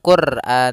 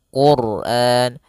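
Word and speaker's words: الْقُرْآنَ: maka dia akan dibaca dengan tebal bukan Quran tapi Quran allamal Quran Kemudian pada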